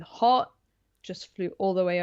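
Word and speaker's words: Haught: I saw how it was spelled, and it's like my brain overrode any other pronunciation than Hort, and all of the jokes about the wordplay to do with hot just flew all the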